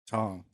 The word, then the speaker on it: tong: weird word is Tong tongue how's that spelled a t-o-n-g okay phonetically tongue like a tongue you would uh pick a cheeseburger up with yeah like cheeseburger most